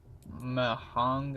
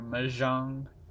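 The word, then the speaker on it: Mahjong: that's nice that works mahong I think think it's pronounced or maang oh wow this one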